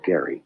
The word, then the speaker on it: Gerry: a term called gerrymandering some people say jerry but it was gary g-e-r-r-y my real name is